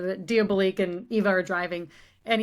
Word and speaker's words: Diabolik: and he pulls out I kept saying Diabolik, which is like obviously the incorrect way to say it, but Diabolik and Eva are driving and he puts out that like mirror wall.